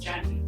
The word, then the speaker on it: Jeannie: I also have to start to say that it's actually pronounced Jenny.